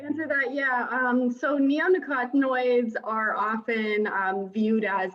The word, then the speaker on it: neonicotinoids: the use of certain pesticides particularly uh nuclear nucleotides i'm probably saying it wrong and glossophate thank